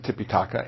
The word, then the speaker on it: Tipitaka: is the ti okay I I I pronounce it titica but it can be pronounced tipitaka and that is the